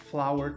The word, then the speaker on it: flour: Flower é a pronúncia tanto de flor, flower, quanto de farinha. Pois é, flour também é farinha.